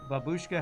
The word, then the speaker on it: babushka: Fun fact, babushka has emphasis on the first syllable.